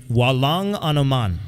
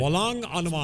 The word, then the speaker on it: Walang anuman: And Walang Anuman is how you say did you're it. welcome. You're Walang Amalak Anuman. Anuman. Very good. Walang Anuman.